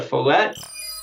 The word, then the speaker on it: Follette: for having me Matt hopefully I pronounced your last name properly too you did yes you got it thank you awesome awesome